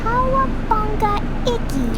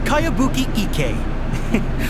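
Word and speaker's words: Kayabuki Ikkei: By Kawabanga Iki. Kawabanga. Yoimiya, this is a really strange name. Who's this Kawabanga? It's pronounced Kayabuki Ike.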